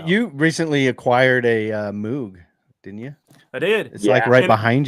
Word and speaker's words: Moog: Bob Moog himself, he said it's pronounced like Vogue. So Moog.